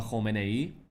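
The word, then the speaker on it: Khamenei: 30%, I say, once if they take out the supreme leader, Ayatollah Khomeini, that's how you pronounce it correctly.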